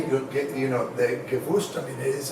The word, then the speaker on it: Gewürztraminer: And so the real way of how to say it, the Gewürztraminer is how it is. The W sounds like V, so it sounds Gewürztraminer. Very phonetic, very German.